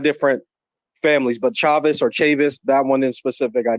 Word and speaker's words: Chavis: chavis that's the way i've been known to pronounce it growing up chavis but you also hear chavis and you've also heard people called chavez and people are under the influence that the